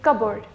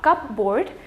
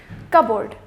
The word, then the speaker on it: cupboard: In this word, it is going to be cupboard, not cupboard, cupboard.